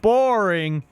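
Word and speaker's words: Boreing: his last name is boring boring so if when you meet him say his first name and you pronounce the last name boring and they were talking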